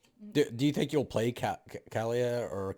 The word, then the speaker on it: Kahlea: more recently yeah do you think you'll play calia or khalia is how do you say it uh kalia do you think you'll play kalia in uh